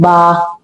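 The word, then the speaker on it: ب: The way is you have to join the both lips together. Join your lips together. Then release them for the sound of ba.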